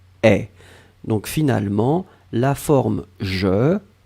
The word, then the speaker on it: aient: Faites attention pour le pluriel, AIENT, mais on prononce est.